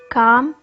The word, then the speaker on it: calm: G H the silent letter in calm is L speaking skills read the